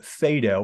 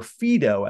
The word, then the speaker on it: Phaedo: philosophy is the book called fedo or fedo as it's variously pronounced it's the story of